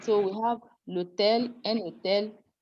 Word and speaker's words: l'hôtel: Elision is removing the E. We now, instead of saying, instead of doing le hôtel, we do this, we put an apostrophe and we pronounce the two together. We say l'hôtel, elision, contraction. Un hôtel, that is liaison.